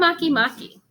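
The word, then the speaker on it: Makemake: author wrote right in parentheses there how to pronounce it for me. I'm Maki Maki.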